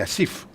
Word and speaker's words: Asif: But when you pronounce that in Pakistan's national language, which is Urdu, we pronounce it as Asif.